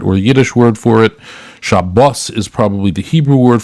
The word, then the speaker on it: Shabbos: Yiddish word for it shabos is probably the Hebrew word for it shabas with the uh right it all depends on what the accent on the right Sal and so it really depends and so um I'm